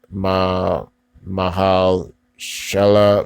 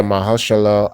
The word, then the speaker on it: Mahershala: I need to pronounce his first name, Mahal Shala. Yeah, Mahershala Ali.